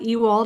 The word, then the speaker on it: Ewald: This is Rachel Marshall and Bruce Wener and we have a special guest with us today and that is Matt Ewald. I should have pronounced or asked about the pronunciation of your name in advance.